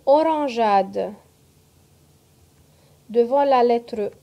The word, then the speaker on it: orangeade: Le GE se prononce J parfois, son doux, devant la lettre A, comme une orangeade.